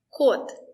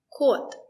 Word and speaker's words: кот: When the letter O is stressed, we pronounce it as O.